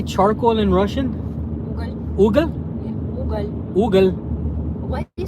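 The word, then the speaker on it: уголь: Ugal.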